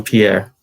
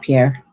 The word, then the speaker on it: Pierre: lot of different things you're saying his name wrong Michael Pierre it's French it's not Pierre all right it's not not here or not the way you're saying it Pierre is